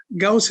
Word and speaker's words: Ghouse: Ghouse is spelled a house with a G in front of it, Ghouse.